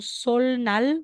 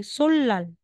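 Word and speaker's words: 설날: mong shne magiging sh sasabihin mong sol Nal magiging solal napakaimportante po ng proper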